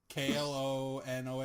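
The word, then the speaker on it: Klonoa: man how do you say that isn't it clona clona yeah noah i don't know where that second o came from it's k l o n o a a o n o a a yeah o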